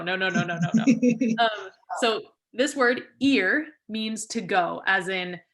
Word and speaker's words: ir: um here's our second lesson the word is ear okay it's spelled I it's pronounced ear okay this is not what the word means